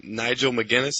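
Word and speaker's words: Nigel McGuinness: uh this past Monday night they had Champion Nigel mcginness is that how you say it yep Y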